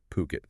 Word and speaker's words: Phuket: It centers on IHG officially bringing their Voco Hotels brand to well the stunning island of Puket. Remember to pronounce that Puket. Puket.